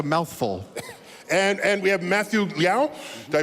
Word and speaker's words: Liao: And we have Matthew Liao. Did I pronounce that correctly?